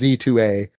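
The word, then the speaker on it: Z-A: that is Pokemon Legends Z to A. It's pronounced Z2A is because you're going from Z. You're going from rank Z up to rank A.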